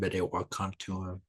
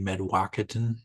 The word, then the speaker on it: Mdewakanton: And then I left in 2005 to go work with a Dakota language speaker at the Shock Bay and Bedewakantu Dakota community. Commonly said Shakopee Medwakaton, which is incorrect pronunciation, but I went to work there with the speaker.